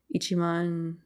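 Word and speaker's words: 一万: to come and they give them it's one ichiman goen how do you say that Ichiman Ichiman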